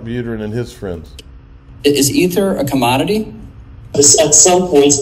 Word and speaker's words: Ether: of these Ether, or Ether is Ethereum's internal currency. So you're calling it Ethers? Yeah, well, Ether. How do you spell it? It's E-T-H-E-R. Okay. Like, yeah. Like that void up in the sky.